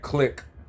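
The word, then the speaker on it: Clik: This boot camp click. Click is spelled C L I K.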